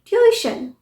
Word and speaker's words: tuition: ये ट्यूशन नहीं है, ट्यूशन, ट्यूशन। य के बाद ई का भी साउंड आ रहा है, ट्यूशन।